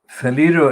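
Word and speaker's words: Faleiro: Faliro is spelled F-A-L-E-I-R-O, Sonia Faliro.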